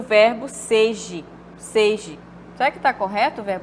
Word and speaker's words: seja: Zinho aqui tá e foi existe uma vogal seje seje do verbo imperativo não não existe verbos seja não existe tá errado tá então a única que está correta é a letra de bandeja e seja Aí sim está correto Tá certo então a